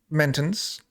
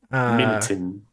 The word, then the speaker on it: Minton: The immortal talking cat, Minton's, right here. Minton. Not I said it right. Mintons. Minton. I said it right that time.